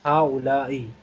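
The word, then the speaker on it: هؤلاء: the second word is ha-ula-i. So I will pronounce okay. ah-ha-ula-i.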